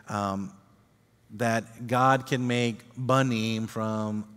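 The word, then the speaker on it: בנים: sons, which is pronounced banim. When you have it at the beginning, it makes a b sound.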